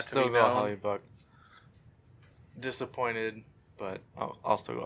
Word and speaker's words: Hellebuyck: I mean, for between Hellebuyck and Howard, No, we're between Helen stuff and Howard. I just want to correct that real quick. I have to go Hellebuyck.